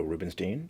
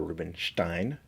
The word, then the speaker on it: Rubinstein: This particular cover art is brought to you by Dan Jurgens and Joe Rubinstein, or Rubinstein, depending upon your stance on pronunciation.